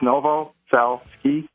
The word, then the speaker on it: Novoselsky: spell it's just uh it's the n. novaski which is n o v o s LSK KY it's simple it's Novo cell ski and uh they can